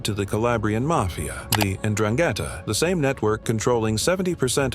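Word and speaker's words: 'Ndrangheta: The Andrangetta, pronounced Indrangetta, isn't just another mafia group.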